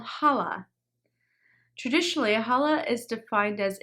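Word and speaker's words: challah: a few times it's pronounced differently than it is spelled so this is called holla traditionally hala is defined as any bread that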